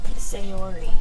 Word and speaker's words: Sayori: Sayori. Sayori, thank you for the pronunciation.